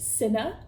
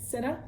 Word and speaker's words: Cinna: And they meet their stylist, Cinna. I believe that's how you pronounce it, Cinna.